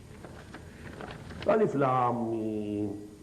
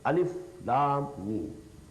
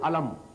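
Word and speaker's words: الم: Every letter you have to pronounce separately.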